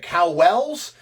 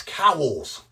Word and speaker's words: Cowells: today right i'm like how do i say is it cow wells he said no it's cowls right so once i